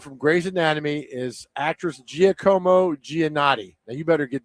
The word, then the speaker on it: Giacomo: It's Giacomo.